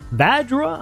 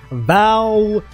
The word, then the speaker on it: Vajrua: And now the J is silent. Come on, bro. There ain't no way that makes sense. Vajrua. Why the J silent?